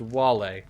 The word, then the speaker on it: Vale: be forever grateful valet it's pronounced wale it's pretty close you brought up within